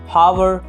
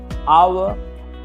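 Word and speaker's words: hour: आप इसे हावर, honest, हॉनर और हॉमेज पढ़ने की गलती मत कीजिएगा, बल्कि इसकी सही प्रोनाउंसिएशन होगी आवर, ऑनेस्ट, ऑनर और ऑमेज।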